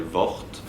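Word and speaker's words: Worth: on doit s'en réjouir lui-même aimait bien qu'on prononce son mot son nom à la française VT lorsqu'on voulait lui faire plaisir et qu'on le prononçait à l'anglaise il rectifiait disait non non je m'appelle VT et pas worse parce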